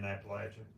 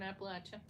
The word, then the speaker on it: Appalachia: and make sure that j s stays in Appalachia yeah what he said you got 40 people